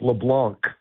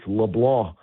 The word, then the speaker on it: LeBlanc: It's got a French Cajun pronunciation. It looks like LeBlanc, but it's LeBlanc.